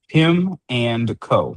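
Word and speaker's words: Pimco: LLC or uh Pimenco LLC is that you pronounce it pimeco yeah pim n pim and co that's p i m co Yeah, I thought it was like pimento, like cheese.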